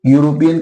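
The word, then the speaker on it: European: गलत हो गया बेटा क्योंकि पहले पढ़ो यूरोपियन यूरोपियन का प्रोनंसिएशन क्या होगा यूरोपियन ठीक है यूरोपियन सबसे पहले क्या आ रहा है या आ रहा है और देखो य क से ज्ञ के बीच में आ रहा है कि नहीं तो यही है आपका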